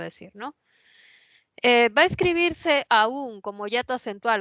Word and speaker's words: aún: variedad debo decir No que los peruanos decimos aún en un caso y aún en el otro caso o sea igual lo pronunciamos pero de manera estándar o sea viendo a todas las variedades de la lengua unos dicen la primera aún como y acentual y la otra la dicen a como un diptongo Aunque en nuestra variedad